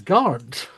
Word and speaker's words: Garnt: mispronouncing his name the whole time. It's Garnt.